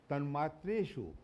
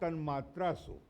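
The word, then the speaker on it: तन्मात्रेषु: Tanmatreshu, not tanmatrasu.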